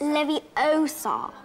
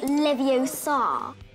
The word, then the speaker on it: Leviosa: waving a wand about you're saying it's Leviosa No Livio saw the comedic scene helps